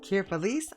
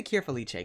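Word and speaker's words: Cure Felice: you think about it and let's get into kir feliche kir feliss I'm going to say kir feliche cuz that's how they pronounce it in the show but look at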